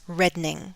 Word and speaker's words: reddening: for the rhythm and it's said as reddening two syllables reddening cherry blossom like